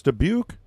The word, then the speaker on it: Dubuque: So it's Dubuque? Oh, don't act smart now. Well, that's what I said. So I said that. So I said it right the first time?